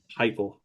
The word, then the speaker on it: Heupel: I can't pronounce his name. Heupel? Heupel.